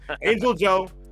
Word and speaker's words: AngelxJo: But yeah, if you guys played any Xbox 360 match back in the day, you know that the X is silent. So, AngelxJo, FOXPLYS, will be going at it in winners finals here in our rookie rushdown bracket.